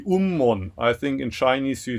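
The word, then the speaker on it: 雲門: Anyway, today I want to talk about a famous koan that involves a Zen master whose name, Japanese pronunciation would be Ummon.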